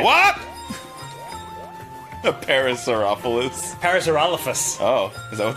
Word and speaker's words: Parasaurolophus: A Parasaurolophus.